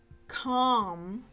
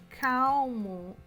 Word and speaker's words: calm: Essa palavra aqui é um exemplo de uma palavra que a gente não pronuncia a letra L, tá? Então, não é calm, é calm, ok? Essa é a pronúncia.